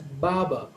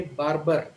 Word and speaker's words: barber: would say Baba so the r in the first syllable and the r in the second syllable both are silent Baba but a typical Indian would say Barber so in an Indian